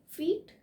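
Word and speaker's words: feet: हम हाइट को फीट में नापते हैं, इसलिए इसका सही उच्चारण होगा 6 फीट या 5 फीट, ना कि फिट।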